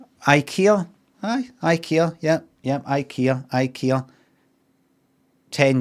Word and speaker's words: IKEA: So I want you to, over the phone and to the customer, pronounce it as IKEA. Right, but what if they go like IKEA?